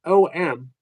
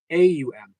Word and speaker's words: Aum: Om, O-M, or as often seen in Tibetan Buddhism, A-U-M is actually pronounced Aum. So it's not Om. It's Aum.